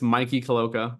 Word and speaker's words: Mikey Caloca: connect with me my name is hard to pronounce well for some people but it's Mikey Koka on all socials so if you want to